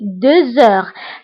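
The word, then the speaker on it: deux heures: فبالنسبة هنا أيضا غتلاحظوا أنني قلت 2 heures هنا نطقت لا لتر زد مع أنها ما كايناش. pourquoi؟ باسكو عندي اش، باسكو عندي لا لتر اكس كتبعها اش، دونك كندير لا ليزون وكنقرا 2 heures.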